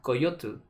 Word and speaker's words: coyotl: Se pronunciaba en náhuatl coyotl.